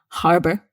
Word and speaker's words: harbor: um arguments about this you must pronounce the h harbor and harbor means port